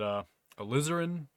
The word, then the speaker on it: alizarin: Crimson Crimson alizarin uh some people pronounce that a azarin I find that really hard to pronounce uh so I pronounce it alizarin uh which to me they sound exactly the same but people criticize my pronunciation of that all the time either way uh transparent